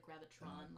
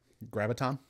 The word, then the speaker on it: graviton: to keep the the I always want to say it like Gravitron like the ride m graviton is that confirmed no